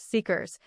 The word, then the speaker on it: CICRS: The result was what I called the Callaway integrated client record system, CICS, which the team pronounced seekers, because database architects have a specific kind of humor.